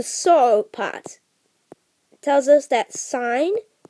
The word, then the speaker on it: sin: part tells us that sign now it's spelled sin but say sign because that's just an abbreviation sin x is equal